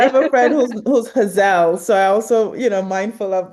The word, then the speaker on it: Hazel: The extra L be throwing people off, but it's Hazel. You Well, got I have a it. friend who's Hazel, so I also, mindful of that.